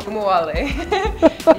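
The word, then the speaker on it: Ogunbowale: You pronounce her last name. I don't want to mess it up. You know her well. Kumuwale.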